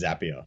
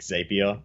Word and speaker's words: Zapier: got that absolutely right it's happier is it because it's a zap right and you don't we don't create as ape correct spot-on yeah I